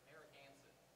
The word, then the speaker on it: Narragansett: I don't know how to pronounce it. Narragansett.